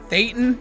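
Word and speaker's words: thetan: So just for clarity, it's actually pronounced theatan considering I've seen this episode like 30 times. I just pronounce it theaton because South Park does.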